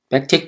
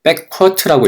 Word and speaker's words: 백틱: 백틱 기호, 백틱 또는 백쿼트라고 읽습니다.